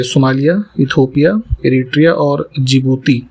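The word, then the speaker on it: Djibouti: ये Somalia, Ethiopia, Eritrea और जिबूती है ना, जिसकी स्पेलिंग डी से स्टार्ट होती है।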